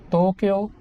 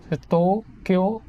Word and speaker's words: Tokyo: You pronounce it as Tokyo. But to them, even though it's hiragana, they emphasize on each syllable. It's Tokyo, Tokyo, Osaka, another one of their bigger, more popular cities.